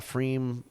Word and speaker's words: pFriem: So if you're ever near a Freem, and that's spelled with a PFRIEM.